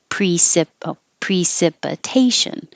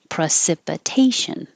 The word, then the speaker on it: precipitation: And this pre can be pronounced pre or pro because it's not stressed. So you can say precipitation or precipitation.